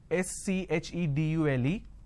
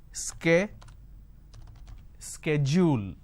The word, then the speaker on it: schedule: and american pronunciation is sk schedule and this is a fact lot of people don't understand so the british pronunciation is schedule the american pronunciation is schedule now in india what